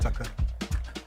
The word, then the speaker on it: Thakor: I actually need to loop this just a little bit more because this woman's voice, Sophia Thakor, is that how you pronounce it? Tucker.